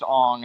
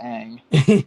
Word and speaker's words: Aang: now by saying it's Ong and not Aang. Exactly. My God, this kid's performance. Like here are the ways that they mispronounce their names. Instead of Aang, you have Ong.